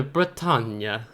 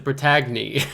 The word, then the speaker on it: Bretagne: this correctly uh the britanya I looked up to how to pronounce this ship and for the last several years I've just referred to this ship as the protagony a French terrify Battleship